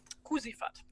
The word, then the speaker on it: Kuzifat: Kuzifat without an R.